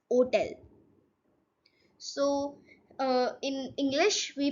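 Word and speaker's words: hôtel: It's hotel. So in English we pronounce it as hotel, but in French we pronounce it as hotel. It's hotel.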